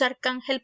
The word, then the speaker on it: arcángel: palabras arcángel y escribió si dividimos arcángel por sílabas vemos que la segunda sílaba siendo de atrás para adelante la penúltima lleva el acento tónico por lo tanto es